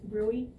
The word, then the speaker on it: bruit: Yeah, a bruit. A vascular disease or atherosclerosis in their carotid arteries, when you listen, you would hear that bruit. B-R-U-I-T. Sound, it looks like bruit, but it's pronounced brewy.